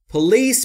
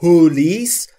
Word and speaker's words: police: Police با استرس درسته. Police یعنی استرس در بخش دوم و روی L و نه police. تلفظ درستش به این صورته. Police. استرس باید روی L باشه. خیلی از فارسی زبانان به اشتباه پلیس میگن و این اشتباهه. پلیس استرس روی ال و بخش دوم باید باشه.